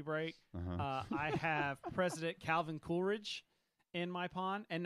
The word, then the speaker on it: Coolidge: too I like it what is it Coolidge we heard Coolridge I put an R in there Coolridge all right Phil